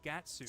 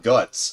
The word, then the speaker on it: Guts: Like, dude, they say the romanized version instead of his actual name, Guts. I'm like, dude, come on, man. It's Guts.